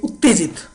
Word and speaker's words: उत्तेजित: Excited we से उत्तेजित। उत्तेजित। राइट? उत्ते will be वन and then Jeet will be वन।